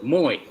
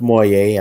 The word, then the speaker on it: Moye: Last name was spelled the same way, but it was Moye. So that's how I was pronouncing your name for the longest until I heard somebody pronounce it Moye.